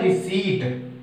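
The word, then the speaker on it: receipt: से पहले पी है, तो हमारा ये पी क्या हो जाएगा, मूक साइलेंट, तो क्या बोलेंगे हम इसे, रिसीप्ट, वैसे हम इसे बहुत से रिसीप्ट कह देते हैं, वो गलत है, लेकिन सही जो है वो है रिसीट, ठीक है।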